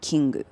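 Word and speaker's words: キング: And then king is kingu.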